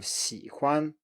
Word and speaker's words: 喜欢: And finally, for the third tone, we have third tone plus neutral tone, and that is, as we saw before, an exception from the rule that the neutral tone is usually lower than the preceding syllable. And here it's higher instead.